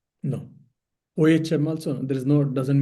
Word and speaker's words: Om: But when you are joining, writing the Om alone, then it should be OM. That's all. Neither AU M nor A HM. The correct pronunciation will be OM.